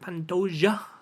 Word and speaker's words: Pantoja: see the JS there I just think it's pantoya but I think I think in Portuguese they pronounce it Pantoja like you know the like jao you know any who he's